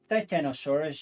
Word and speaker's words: Titanosaurus: Titanosaurus, yeah.